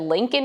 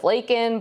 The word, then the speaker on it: Laken: And Biden held up the pin, and I think he said Lincoln Riley instead of Laken, but I guess close enough, and then went on